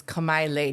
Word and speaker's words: Kamaile: Well, first of all, it's Kamaile. Nobody says it like that, though. You know, local people just don't want to pronounce it. Kamaile.